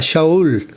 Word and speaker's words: Shaul: Pablo se llama realmente Saulo, digamos, en la pronunciación que se le da en español, pero la verdadera pronunciación era Shaul, o sea, lo que conocemos como Saúl.